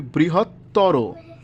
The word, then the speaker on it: বৃহত্তর: আছে দুই নম্বরে আছে তরতম প্রত্যয়ন্ত শব্দের অন্ত অ এর উচ্চারণ ও এর মত হবে যেমন বৃহত্তর তাহলে উচ্চারণটা কেমন হবে বৃহত্তর যত সুন্দর করে ভাঙ্গা